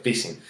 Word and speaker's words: phishing: Porque muchas veces no se trata de spam, se trata de phishing. ¿Qué es el phishing? Vale, el phishing, bueno, aunque se escribe con P, es algo como así como pescar, ¿vale?